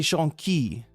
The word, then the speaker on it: jonquille: La phrase signifie littéralement je vous et j'exige du jasmin, et des jonquilles. Which I always thought sounded like junkie, but no, it's jonquille.